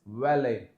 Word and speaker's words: valet: so it is Buffet we don't pronounce t here as well this is valet used for parking I'll